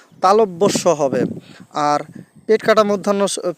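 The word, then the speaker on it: তালব্য শ: যেমন আরো একটা বর্ণ আছে আমরা সবাই বলি তালিবস পেট কাটা মধ্যান্যস আসলে কি এগুলোর এই উচ্চারণ হবে না তালিবস হবে না তালব্যস হবে আর পেট কাটা মধ্যান্য পেট মধ্যস্য হবে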